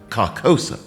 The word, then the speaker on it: Carcosa: You saw Carcosa, right?